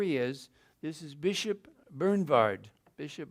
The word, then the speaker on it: Bernward: is this is Bishop bernward Bishop Bernard you say the W like a v in the Volkswagen so Bishop Bernard he